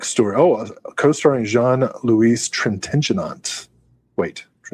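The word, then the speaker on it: Trintignant: Oh, co-starring Jean Louise Trentenant. Wait, I think it's Trenta, but I could do that. Trent. I always add a syllable.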